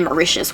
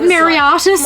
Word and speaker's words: Mauritius: I didn't even know where Mauritius was until we had someone buy from there. Oh, and I didn't even know how to say it. Yeah, we're like Mariatis. Mariatis.